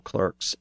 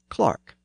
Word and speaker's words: clerk: this word as clerk because in much of Britain the word is pronounced as Clark and the word spelled